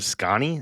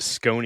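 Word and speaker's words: Sconnie: it's called becoming scanny is it scanny I thought I like whenever you put that in the messages I I think I pronounce it scone in my head yeah no just like Wisconsin so ah Sky makes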